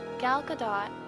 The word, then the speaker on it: Gal Gadot: As many of the fans are familiar, Gal Gadot, and yes, the T is pronounced, is an Israeli.